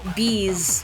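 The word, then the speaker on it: B'z: By the group Bees, but it's spelled like B''Z, If Rue were here, she would know.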